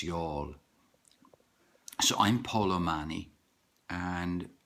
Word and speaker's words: Youghal: It's Youghal is how some people pronounce it when they come from North America and they don't know, but it's Youghal.